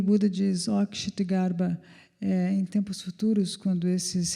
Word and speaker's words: Kshitigarbha: E o modo de escrever o nome de Kshitigarbha é K-S-H-K-S-H-T-I Garbha, Kshitigarbha. E a razão pela qual eu me confundo quando diz é que ela pronuncia Kshitagarbha.